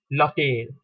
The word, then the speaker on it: l'hôtel: Why am I not pronouncing it? So that is the rule in French language. If you have an ush after the L apostrophe, you do not pronounce it. Or in general, you do not pronounce the H or the ush.